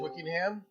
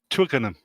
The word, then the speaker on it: Twickenham: all right uh have stormed the pitch it's wicking him is that how you say it Batman welcome yeah hello so it's it's Twitter is that is that how it's pronounced do the rolly bit Twickenham okay Nam all right now look I like